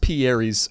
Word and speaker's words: Pierre's: This is pronounced Pierre's Cherries, because we had other perfect rhymes, but we just thought that was really funny.